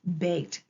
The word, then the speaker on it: baked: So we don't hear the E, but we hear the long A, and we hear the D sound at the end, D. So let's blend baked together.